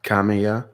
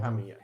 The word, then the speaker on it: Kamiya: You mean Kamiya? Kamiya. Kamiya? Yeah, Kamiya.